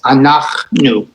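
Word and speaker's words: אנחנו: Use the shva as a pause. Anachnu.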